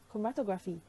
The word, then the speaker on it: chromatography: seeing chromatography in action here's how to pronounce chromatography pro ma toh chromatography originally developed by Russian